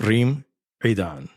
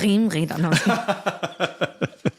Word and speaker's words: Reem Edan: including the pronunciation of Reem Edan. I take it back. It's Reem Edan.